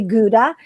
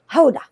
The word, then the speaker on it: Gouda: here in the netherlands it's kind of like we say gouda when it's actually hoda really yes so i